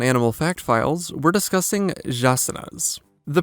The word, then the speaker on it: jaçanã: The name should be pronounced something like jaçanã or jaçanã, though I don't know the language, so I'm probably getting something wrong here.